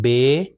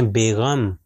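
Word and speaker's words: بِ: اگر اس کو میں کہوں بے تو یہ غلط ہے. مثال کے طور پر اردو میں ہم کہتے ہیں بیغم، تو یہ بے نہیں ہوگا بلکہ بی ہوگا.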